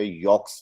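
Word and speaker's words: Jacques: तरफ से होता है, उस पर यॉक्स लिखा होता है, जिसे हम जैक्स पढ़ते हैं लेकिन फ्रेंच इसे यॉक प्रोनाउंस करते हैं।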